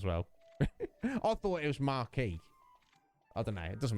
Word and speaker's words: marquis: marquee hondura uh it's the pronunciation of that title is marquee right it's not marquis i don't know if like squidges there she would know i think it's marquee but even though they've